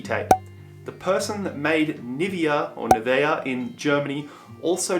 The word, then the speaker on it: Nivea: the brand new via I call it Nivea I think in German it's Nevaeh but the skincare brand the